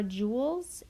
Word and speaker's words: joule: The two most common one are joules and calorie. So it's pronounced like joule.